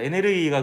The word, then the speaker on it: 에네르기: 에네르기가 그 에너지를 일본식으로 발음하면 에네르기가 되더라고. 에네르기.